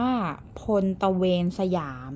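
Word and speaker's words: พลตระเวนสยาม: อ่า Four กัน นิด นึง อ้ะ อ่าน ว่า พล ตระเวนสยาม นะ คะ พล ตระเวนสยาม โลโก้ สวย มาก นะ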